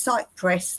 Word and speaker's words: Cyprus: I say that because people say my country's sight press like the tree.